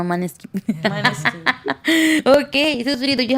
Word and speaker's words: Måneskin: Ah, you see, and we are very English, Munchkin, no Måneskin.